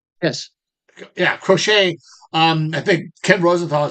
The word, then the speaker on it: Crochet: Did I pronounce his name? Yes. Yeah, Crochet.